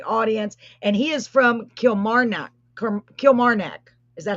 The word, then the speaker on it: Kilmarnock: And he is from Kilmarnock. Is that how you say it? Kilmarnock.